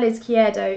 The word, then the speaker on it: Izquierdo: So it's not like I would sell Izquierdo in order to fund Kane.